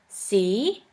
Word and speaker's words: sie: The next letter combination is IE, which is simply pronounced like E. For this letter combination, we have the example of the word see, which means you.